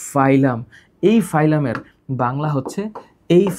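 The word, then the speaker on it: phylum: তো আমরা যখন শব্দটা উচ্চারণ করি আমরা তখন বলি ফাইলাম।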